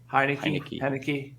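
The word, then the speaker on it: Heinicke: washington um and taylor heineken yeah did i say it right the first time because i don't do that i think you did hi thank you yeah kind of like the beer heineken why wouldn't you spend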